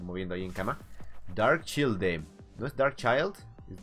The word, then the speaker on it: Childe: Dark Childe. Y es Childe. No es Child. Es Childe. Como los antiguos ayudantes de caballero. Como Childe Roland. Créanme. Así se pronuncia.